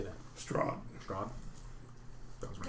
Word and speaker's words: Strahd: Strahd.